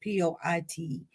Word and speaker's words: Poitier: guys know sidney poitier that's how we pronounce his name i don't know why it's e p-o-i-t-i-e-r but we we say cindy poitier he passed away on